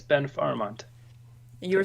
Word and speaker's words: Farahmand: So I also speak Farsi because I'm Iranian, and in Farsi it's pronounced Farahmand. So yeah, it has a couple of different what syllables in the different locations.